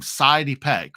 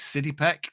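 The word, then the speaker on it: Sydie Peck: sidey peek City peek I've been calling him sidey peek for such a long time um I don't think I've ever heard anyone say his name out loud before um but uh Gary Sinclair says it's City pek so we're going to go with City pek and it was great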